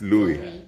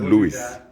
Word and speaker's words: Louis: how to pronounce it some people have corrected me and said St Louis then some people say Saint Louis I think it's Louis yeah that was yeah not Luis yeah is how the